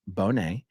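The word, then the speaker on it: Bonnet: Ramsey anyway um okay Bonet in Charles Bonet syndrome is pronounced Bonet and it is when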